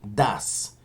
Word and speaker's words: does: También recuerden, chicos, la pronunciación de estos auxiliares, do y das. Como cuando uno dice dudas, pero es do y das.